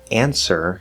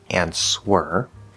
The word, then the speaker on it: answer: of memorize for example answer is a very common word that uses a silent w it is not answer as well as the